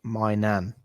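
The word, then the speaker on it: Maignan: He says, I think his surname is pronounced Mainan.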